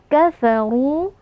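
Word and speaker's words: كَفَرُوا: kita panjangkan dua harakat kafaru RO di sini karena berharakat damah maka dia tafkhim atau tebal jadi kita angkat pangkal lidah kafaru lalu kita panjangkan dua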